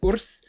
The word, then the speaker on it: WRS: Andrei Ursu, better known as Urs, which it's stylized as WRS, but it's pronounced as Urs, which is the Romanian